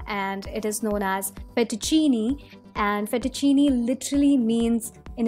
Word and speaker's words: fettuccine: and this is how it looks it is pronounced as fettuccine I repeat fettuccine let's move on ahead towards the next one